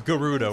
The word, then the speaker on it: Gerudo: just gonna be just Gerudo no that's no she says Garuda with a soft G erudo no man Gerudo just feels better in my brain I guess I can